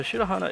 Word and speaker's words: Shahana: um okay so I is it shahana is is that how we pronounce it oh yes it is okay cool um yeah so shahana is another decent green